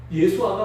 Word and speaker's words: 예수아: 예수라는 이름도 예수라고 읽으면 절대로 안 됩니다. 얼마나 강경한지 예수아라고 읽어야 됩니다.